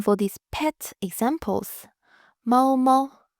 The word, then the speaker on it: 猫猫: Mao Mao, Mao Mao. The first tone and then neutral.